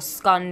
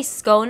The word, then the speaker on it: scone: Welp, I'm not gonna say I'm surprised by the whole scone debacle. I used to say scone all the time, and that's how people usually say it back at home. So my pronunciation of scone is not right over there.